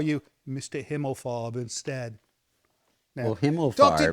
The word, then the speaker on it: Himmelfarb: whose actual name is Himmelfarb. Am I pronouncing that correctly?